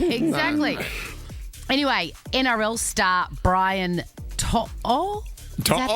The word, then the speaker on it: To'o: Anyway, NRL star Brian To'o. Is that how you pronounce it?